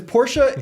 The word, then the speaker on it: Porsche: with Porsche dad because Porsche is how you say it in German but then you say Mercedes like an American see the problem so you say pora like a German but you don't Sayes I'm not saying you